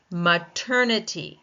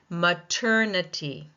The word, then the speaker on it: maternity: Maternity. It ends in I ty. Maternity. Maternity. Second syllable taking the stress.